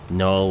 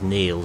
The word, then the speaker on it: Niall: I got wrong for calling someone on the course Noel when their name is spelled like yours and they say it's Neil, so that's the reason behind it.